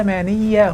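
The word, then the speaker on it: العلمانية: By the way, I pronounce it ''al-'almaniyya'' (Arabic word for secularism) and not ''al-'ilmaniyya'' because it is derived from the word "world", not "science". Islam is the only religion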